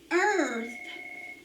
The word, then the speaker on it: earth: a r t h earth has the er sound but it has ear in it earth that makes it a